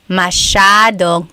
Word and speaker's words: masyadong: Masyadong means a lot. So the S-Y-A is a sha sound. Masyadong.